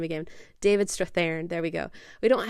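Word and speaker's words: Strathairn: David Strathan.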